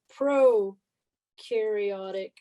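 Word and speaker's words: prokaryote: nucleus this is a pro-karyote cell pro rhymes with no here's your trick and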